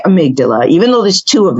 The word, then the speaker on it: amygdala: when they see that they don't know exactly how to say it but we say amygdala even though there's two